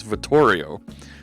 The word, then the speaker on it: Vittorio: butcher his last name I know how to pronounce his first name it's Vittorio he's Italian gentleman and Vittorio is an